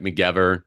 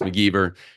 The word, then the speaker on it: McGever: My name looks like McGever. It's McGever.